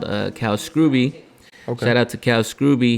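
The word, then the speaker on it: Scruby: artist called uh cow scrooby shout out to cal scrooby he's got a video called underground it's pretty dope that's scrooby not scooby yeah s-c-r-u-b-y i thought it was scrubby but in a recent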